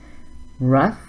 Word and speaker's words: rough: Rough, tough, enough. So they all have a similar sound at the end. It sounds like uff.